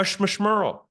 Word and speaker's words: schmishmerl: Now we've got something called a schmishmerl. It rhymes with referral.